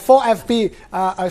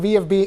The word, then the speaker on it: VfB: For FB, Stuttgart as they pronounce. We call it VFB in English, but in Deutsch they call it for FB.